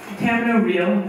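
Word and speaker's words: Camino Real: Tamino Real, as Tennessee wants you to pronounce it, was actually a co-production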